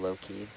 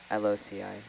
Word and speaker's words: loci: It's It's called the method of Loki. Loki. Loci. Yeah. Loi. Aloi. No, it's it's Latin, so it's a hard C.